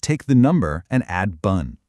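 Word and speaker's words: 분: It's actually much closer to the English word boon with a softer, slightly rounded vowel sound.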